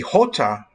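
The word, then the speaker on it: jota: words comes out of their mouth is the hota which is spelled j-o-t-a and as you know the the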